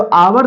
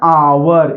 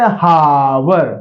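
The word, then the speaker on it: hour: तो इसको पढ़ते हैं आवर ये नहीं पढ़ते हावर हावर नहीं होगा आवर होगा तो आ आ ई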